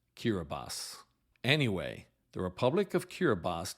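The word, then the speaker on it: Kiribati: b a t for the longest time I pronounced it kirati but it is actually pronounced kirbas anyway the Republic of kirbas gained its independence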